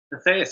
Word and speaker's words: Assayas: Is that how I pronounce the last name? ASSAYAS? ASSAYAS, yeah, you got it right.